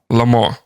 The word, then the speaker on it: Le Mans: Le Mans. Le Mans. Le Mans. Like lemon, but say it like you're an idiot. Le Mans. Le Mans. Le Mans. Okay. You don't pronounce the S.